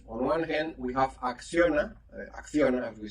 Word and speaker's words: Acciona: On one hand, we have Acciona, as we say in Spanish, well, in some part of Spain, because not all the Spanish people pronounce the C, no? Acciona, if you want.